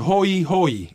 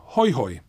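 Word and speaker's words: hoihoi: In Classical Hawaiian, there are hoe hoe, to paddle a canoe, and hoi hoi, interesting, fun. In revitalized Hawaiian, both words are pronounced the same, hoi hoi, reflecting American English, which fails to distinguish between the diphthong oe and the diphthong oi.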